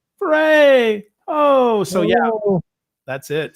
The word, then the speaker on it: Ferre: e r r e dot com and it's pronounced like hip-hop foray right fray oh so yeah that's it so yeah check